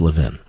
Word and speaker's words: Levin: It's Levin, but thank you, sir. We appreciate it. In Philadelphia, it's pronounced Levin. And that's where I grew up, Philadelphia.